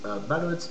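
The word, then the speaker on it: balut: Okay guys, ballot, it's spelled B-A-L-U-T.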